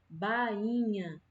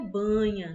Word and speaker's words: bainha: Carioca, carioca, bainha, bainha, certo? Não é banha, né? Banha não tem a letrinha I aqui, certo? A banha, a palavra banha, não tem essa letrinha I.